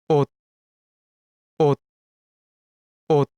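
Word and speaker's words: 옷: This is read as ot, which means clothes. Notice this letter at the final position of the syllable? Yes, it is shut. I know we should read it with its S sound, but because it is a bachim, which is the consonant that is found in the final position of the syllable, then its sound becomes T.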